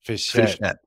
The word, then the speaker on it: Fischette: Today we have with us Fischette. is the founder. Sorry, did I pronounce it correctly? Almost. It's Fischette, like a small Fischette.